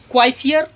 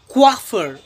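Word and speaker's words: coiffeur: अब इसे क्या पढ़ते हैं, क्वाइफियर? नहीं, इसे पढ़ते हैं क्वाफर।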